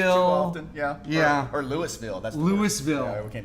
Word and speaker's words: Louisville: You originally hail from Louisville, Kentucky. Very good. Did I say it right? You got it.